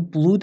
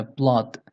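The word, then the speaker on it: blood: انگلیسی میشه بلاد بلاد ببین بلود اشتباهه تلفظ درستش اینه بلاد نگید بلود بلاد درسته حالا یه چند تا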